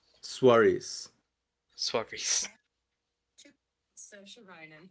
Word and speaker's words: Saoirse: How do you pronounce the name Swaris? Swarbriz? Saoirse Ronan. Sosha.